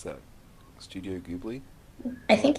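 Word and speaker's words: Ghibli: Anyway, so she pronounces it Gibli.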